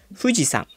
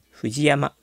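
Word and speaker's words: 富士山: Namun kalau dia bersama nama gunungnya, misal gunung Fuji, dia akan menjadi Fujiang, bukan Fuji Yama.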